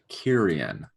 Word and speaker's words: Kyrian: her talking about when I don't know why I cannot seem to pronounce this. What is the dominant culture right now? Kyrian. It's not a hard word, but for some reason I keep wanting to pronounce it otherwise.